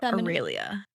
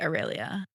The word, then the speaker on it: Aurelia: Aurelia. Is that what you would say? Some people say it 3 syllables and some say 4. I say Aurelia, but I think that's very American.